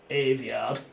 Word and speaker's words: Aveyard: How do you pronounce it? Aveyard.